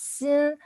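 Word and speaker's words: 鑫: as gold so for this sin sin the pronunciation is seen it has three three three gold but three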